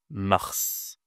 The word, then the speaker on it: mars: Mars, c'est le mois le plus facile à prononcer mais il faut être capable de bien prononcer le R.